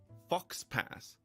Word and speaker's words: faux pas: least know that um aux is not pronounced ax I I know that uh it's pronounced you know uh um so you've got der and Foe and um you know it's uh it's it's actually got a couple of pronunciations but it never pronounces the X never pronounces the X